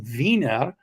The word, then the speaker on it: Wiener: In German is w i e n r is pronounced viner.